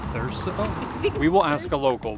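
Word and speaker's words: Thurso: Before you lighten me up in the comments, I think this town is pronounced Therso.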